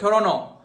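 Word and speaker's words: Toronto: लोग ये जो विदेशी लोग होते हैं ना ये टोरंटो को अपन बोलते हैं टोरंटो। वो बोलते हैं टोरनो। मैं क्यों बोलूं टोरनो? हमने तो स्पेलिंग पढ़ना सीखा है ना टी ओ आर ओ एन टी ओ ये हो गया टोरंटो वो बोलता है टोरनो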